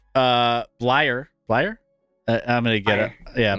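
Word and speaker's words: Bleier: in honor of Franco Harris, they should bring back Rocky Blair, Blyer.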